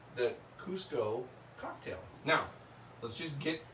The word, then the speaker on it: Cusco: Now, it's spelled, it used to be spelled C-U-Z-C-O, Cusco. And some people still pronounce it Cusco. It is now spelled C-U-S-C-O, and it's Cusco.